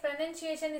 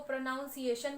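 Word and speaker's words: pronunciation: यूज करनी चाहिए next प्रोनंसिएशन spelling and structure should be follow correct प्रोनंसिएशन होना चाहिए जैसे बहुत लोग इसको प्रोनाउंस एशन भी बोलते हैं तो प्रनं इट इज प्रोनंसिएशन spelling प्रोनंसिएशन should be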